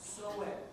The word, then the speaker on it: Samhain: And then when we get past fall equinox, yeah, then we're into Samhain. What's that? Soet is the correct pronunciation.